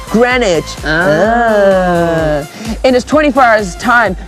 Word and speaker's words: Greenwich: see what it says welcome to green witch pronounced grenic in this 24 hours